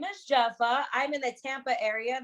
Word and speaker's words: Jepha: today we're joined with a special guest um jeffa is that how you pronounce it yes all right dope all right